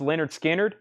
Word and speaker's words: Lynyrd Skynyrd: on that I've still got a Lynyrd Skynyrd pronounced Leonard Skynyrd uh uh two LP 45 RPM analog Productions